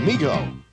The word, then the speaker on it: Mego: I always called it Mego, but I think it's actually pronounced Mego, who made toys as well, another toy company.